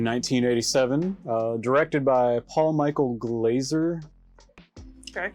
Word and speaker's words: Glaser: directed by Paul Michael Glaser okay I think that's how you say his name probably it's 1s and not two so it's not glass Earth director of something's got